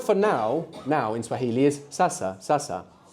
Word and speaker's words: sasa: The word for now in Swahili is sasa, sasa. S-A, which is a repeated syllable.